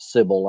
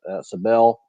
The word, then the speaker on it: Cybele: So Sardis was devoted to the mother goddess of, I pronounce it Sybil. I don't know. It's Cybele.